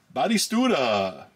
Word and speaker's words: Batistuta: Gabriel Batistuta. God, I couldn't. There's an extra syllable in there.